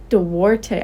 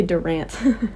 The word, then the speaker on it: Duarte: Gannon Duarte. Duarte. I was going to say Durant.